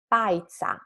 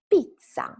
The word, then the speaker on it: pizza: It's not pizza, right? It's pizza. So the first vowel, it's E, and it's always E.